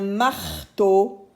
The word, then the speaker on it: marteau: Et to avec le grand O, qu'on a déjà appris maintenant, le grand O qui s'écrit E-A-U. D'accord? E-A-U, c'est le son O.